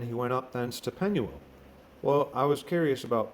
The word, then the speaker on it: Penuel: click on that and you get penuel or pennywell and by key it has a pronunciation so let's listen to that strong's h6439 penuel penuel gascenius lexicon all right